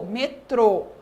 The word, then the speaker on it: metrô: temos aqui agora circunflexo vocês perceberam que quando eu falo a sílaba do acento circunflexo fica um som mais fechado Então veja aqui ó Cipó o o foi aberto ó e no metrô que o acento circunflexo fica o metrô certo e o acento